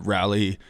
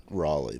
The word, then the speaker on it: Raleigh: When I had a hell of a time getting back, and I was in the Raleigh airport, and I stopped and I was getting